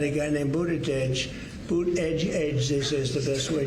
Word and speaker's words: Buttigieg: And they said here's what you do. Boot edge edge. Say edge like the edge of a building.